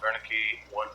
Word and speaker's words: Wernicke: alpha subject dr rudolph wernicke 14866 again i'm saying the name wrong it's a wernicke in june of 1943